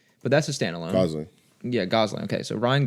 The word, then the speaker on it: Gosling: Ryan Gleason?